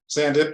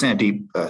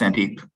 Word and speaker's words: Sandeep: Sandip, do you want to have anything that you want to add? It's Sandeep, Steve. Pardon? It's pronounced Sandeep.